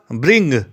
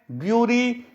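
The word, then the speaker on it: bury: बी यू आर ए इस world को पढ़ेंगे बेरी इसको बारी या बरी नहीं पढ़ेंगे इसका अर्थ होता है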